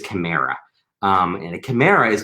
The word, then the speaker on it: chimera: things are called i i think the pronunciation i've i've done this wrong all my life i think it's chimera um and a chimera